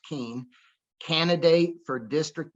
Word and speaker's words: Kuehn: facebook page is keane and it's got a weird spelling k-u-e-h-n looks like cuen but pronounced keen candidate for district 9